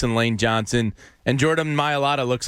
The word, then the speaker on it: Mailata: Mailata? Yeah. Mailata, yeah.